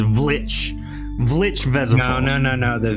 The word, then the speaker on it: Vlich: It's a silent V. The correct pronunciation is Vlich.